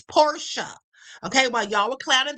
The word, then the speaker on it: Porsche: But it's a German word, and in German, the vowels specifically vowels or the end of a word, specifically the e is is pronounced that way. So, it's porsha.